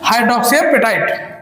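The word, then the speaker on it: hydroxyapatite: hardest substance of the body made up of calcium हाइड्रोक्सिया point calcium हाइड्रोक्सा point calcium हाइड्रोक्सिया petite इसका exact थोड़ा pronunciation इसका tough है हाइड्रोक्सीपेटाइट ठीक ये होता क्या है हमारे दांतों में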